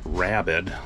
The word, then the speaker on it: Rabid: uh rabid transit garage it's pronounced rabid like you know a dog with rabies anyway these guys uh